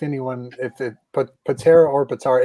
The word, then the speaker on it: Pitarra: many i never correct anyone if it put patera or potara it's patera but people say potara and it's pointless to correct him i don't